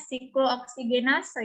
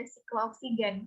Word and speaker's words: siklooksigenase: Itu bacanya siklooksigenase ya, jangan baca siklooksigen karena pengertiannya berbeda.